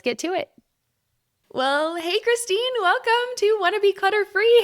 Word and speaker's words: Khrystyne: I know it's spelled so weird, but it's just normal. Khrystyne.